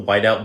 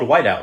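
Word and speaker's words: Wite-Out: So do you guys remember the little whiteout bottle where you just put little white paint on any mistake you made on papers back in the day in school? That was called whiteout, right?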